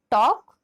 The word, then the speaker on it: talk: TALL tall, WALL wall, TALK talk, WALK walk, इन दोनों शब्दों में एल का उच्चारण साइलेंट है।